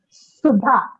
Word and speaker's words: Sudha: Sudha, which goes like a hissing sound.